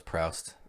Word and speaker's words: Proust: I thought it was Proust. I did a bunch of research. No, searching. I wanted to know how to pronounce it. And it's a French guy like Proust.